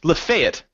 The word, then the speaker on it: Lafayette: say it let's say you see this word l a f a y e TT e how do you pronounce that oh Lafayette yeah no no it's not actually it's lefet wrong wrong yeah so they they correct me